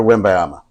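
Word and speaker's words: Wembanyama: know this is serious you need to say it correctly Victor win bayama yeah uh Bobo's just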